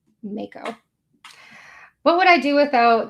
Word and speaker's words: mako: Oh, some mutant says it's pronounced Mo. Thank you. Makeo shark, not maco. Mako.